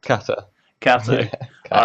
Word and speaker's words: Cata: Today we are here with Cata or Katja. Am I pronouncing that correct? Cata.